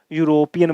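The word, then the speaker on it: European: है आई मेट यूरोपियन अब देखो ई से शुरू हो रहा है ए ई आई ओ यू एन लगा दूं क्या वोव साउंड नहीं बचना है यूरोपियन बोलते हैं अपन इसको यूरोपियन तो क्या आएगा आई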